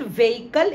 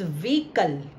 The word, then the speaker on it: vehicle: This is नॉट व्हीकल, इट्स व्हीकल, इट्स व्हीकल।